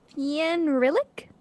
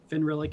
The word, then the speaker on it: Fenrilik: Jackson can tell me if I'm pronouncing this incorrectly, Fienrilik? You don't have to put 2 syllables on the beginning. It's Fenrilik is, yeah, it's close enough.